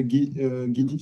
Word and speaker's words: Guid: Ouais, c'était madame Guid, je sais pas si ça se prononce comme ça. Madame Guid. Oui, c'est bien ça. Guid.